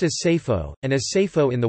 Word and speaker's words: Seyfo: the modern Assyrian Mesopotamian Neo-Aramaic designation Sapa, sword, pronounced as Sapho, and as Sapho in the Western dialect.